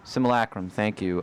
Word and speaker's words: simulacrum: It's an example of the simulacrum. I know I'm pronouncing that wrong. Simulacrum? Simulacrum, thank you, which is sort of a transcription of another thing.